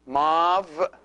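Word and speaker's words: ⲙⲁⲩ: And then mav. See this letter, which is the epsilon, is here pronounced like a V because it is preceded by an alpha.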